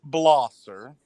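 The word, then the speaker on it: Blaser: gonna say was it a blazer no it's bla sir is that how it's pronounced bla sir yes that's what the rapid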